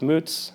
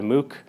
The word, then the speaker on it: Muc: My last name is actually pronounced Moots, but I can also go by Mook or Muck.